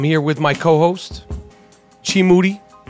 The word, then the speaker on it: Moody: And I'm here with my co-host, Chi Moody. Last name rhymes with Doody.